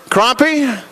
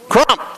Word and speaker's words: Crump: up next chris is a crump chris crompy how do you say the last name crump okay chris krump driver the seven car you're up next and he pulls a 10.